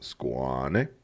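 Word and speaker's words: Skåne: Yes, it's pronounced Ostergotland, just like the skein is actually pronounced Squane.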